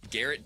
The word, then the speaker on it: Garrett: Garrett does rhy with. It also rhymes with Jared.